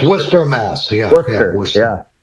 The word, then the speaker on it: Worcester: It's Worcester, Mass. Yeah. Worcester. Yeah. It's spelled. It doesn't look like the way it's spelled that it should be the way they say it. Yeah, they pronounce it Worcester.